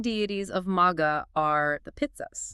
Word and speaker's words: Pitri: But the ruling deities of Magha are the Pitris. The pit, pronounced Pitri.